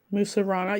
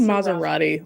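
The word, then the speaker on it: Mussurana: How do you say it? Musarana. You keep saying Maserati like a car.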